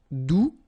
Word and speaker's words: doux: All right, doux, you don't pronounce the final X.